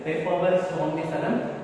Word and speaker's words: Papaver somniferum: Opioids is obtained from Papaver somniferum. The plant, how we have to pronounce, have to keep it in mind. That is Papaver somniferum.